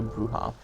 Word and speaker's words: Brujah: brujah i am no bruha would you believe they literally pronounced like that like b-r-u-g-a-h okay and it's pronounced brujah very clever the rowdy vampires are